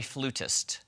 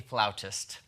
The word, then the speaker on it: flautist: She actually said on the show, "I am a flutist." That is not how you say it. If she plays the flute for a living, she should know it's called a flautist.